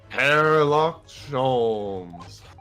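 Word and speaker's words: Herlock Sholmes: yeah dude I indeed sir I am he hairlock ches that's how you that's how that's how you actually pronounce his name we just been saying it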